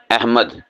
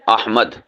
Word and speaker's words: احمد: بھی استعمال کرتے ہیں، اور وہ غلط استعمال کرتے ہیں لہجے کے اعتبار سے۔ وہ کہہ دیتے ہیں احمد، آپ کا نام کیا ہے؟ وہ کہتا ہے جی احمد۔ تو یہ غلط ہے۔ صحیح کیا ہوتا ہے؟ احمد۔ صحیح کیا ہے؟